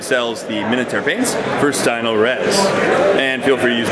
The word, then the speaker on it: Stynylrez: We've had a wonderful reception here at the con, the Stynylrez.